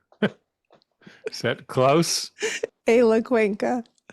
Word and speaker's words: Cuenca: And today, and I'm going to try to get the name correctly pronounced. That's always a challenge. But a friend who I've known for a while, Eyla Cuenca. Is that close? Eyla Cuenca.